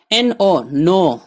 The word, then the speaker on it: know: NO یعنی نہیں. most یعنی بہت کئی. PEOPLE people لوگ. my یعنی میرا. OVER over سے زیادہ یا بڑھ کر. KNOW no یعنی جاننا.